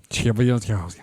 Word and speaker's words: Chelyabinsk: Chelyabinsk. Yeah, just say it like just gotta say it like you're a Russian.